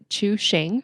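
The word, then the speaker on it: Chuxing: DD and I did figure out how to pronounce this it's to Shane mm-hmm in a deal to sell their China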